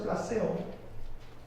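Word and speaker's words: πλησίον: Y la palabra prójimo viene de una palabra, plaseón, se pronuncia plaseón, que significa un vecino, un amigo o cualquier otra persona.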